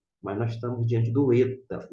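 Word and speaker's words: ήτα: nós estamos diante do Eta o eta é equivalente ao nosso e observe que o maiúsculo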